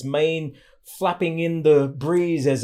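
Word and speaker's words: 马: original character this was a horse with its mane flapping in the breeze as it was galloping around and so the pronunciation of this was ma and so the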